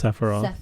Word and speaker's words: Sephiroth: I can't pronounce it. Yep, it's Sephiroth.